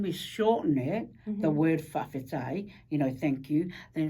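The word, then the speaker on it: faʻafetai: Now, if I was to use the K there, notice how there's T there.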